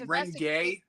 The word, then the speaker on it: Rimgale: Wait, Rimgale? Rimgale, not Rim. Oh, Rimgale.